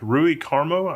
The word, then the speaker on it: Rui Carmo: Also, I want to call attention to Rui Carmo, I think that's how you say his name, r u i Carmo.